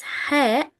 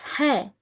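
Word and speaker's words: ح: It's not ha, it's ha. How can I read ha right? How can I pronounce it perfect and like an Arabic person? It's coming from the middle of the throat.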